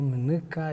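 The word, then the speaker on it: Munuka: Yo te puedo decir que hablo alemán y me siento muy orgulloso, y te puedo decir que hablo Mneca y me siento muy, muy feliz. Mneca se escribe...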